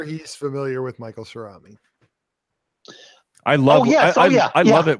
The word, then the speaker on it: Cerami: I think it's like ceramic without the C on the end, right?